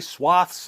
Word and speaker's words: swaths: Yes, I know some of you say swaths and some of you say swathes. There's no agreed upon pronunciation anymore, so get over yourselves, you freaking pronunciation Nazis.